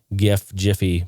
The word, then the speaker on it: GIF: in collaboration with the Jiffy people to show that it's settled and it's Jif. They're saying, hey, look, you pronounce ours Jif, you pronounce this Jif.